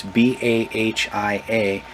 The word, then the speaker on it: Bahia: get that to focus, Bahia agates. I don't know if I'm saying that correctly. In Spanish, the H is silent. It's B-A-H-I-A, so it would be